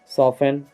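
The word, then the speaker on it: soften: ऑफेन, सॉफेन, तो इन सब में हम टी को नहीं बोले हैं।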